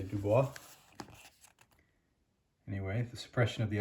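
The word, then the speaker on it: Du Bois: Dubois, and I'll just point out, for those of you who studied French, you might want to pronounce that Dubois, and that's just not how he pronounced his last name, so it's Dubois.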